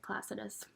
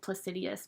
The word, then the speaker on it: Placidus: That's how you say it, Placidus. I used to always say it Placidius, but that's not actually even how you pronounce the house system.